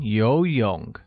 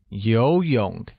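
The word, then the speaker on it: 游泳: will become war Siwon yo young we're yo young means swimming note that yo young uses a mid rising tone on the first though and a falling rising tone on the second oh great the next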